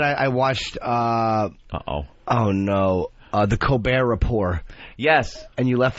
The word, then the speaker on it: Colbert: It's hysterical that his name is Colbert and it's spelled Colbert. And it's the Colbert Report.